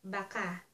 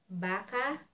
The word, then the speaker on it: baka: maybe siguro or Baka pronounce as Baka if you pronounce it if you pronounce it as Baka that means a cow and if you want